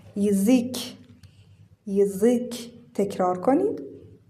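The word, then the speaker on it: язык: آ میده یا بلاکا ولی تو کلمهیک اینجا یا بدون تکیه هست پس صدای ای میده و اینجا اینکه تکیه داره بلندتر خونده میشه یزیک یزیک یزیک یزیک تکرار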